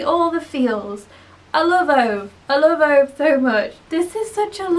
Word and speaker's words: Ove: that's A Man Called Ove. Or I say Ove, but I have been told that it's pronounced Ove. I can't do it. I can't do Swedish.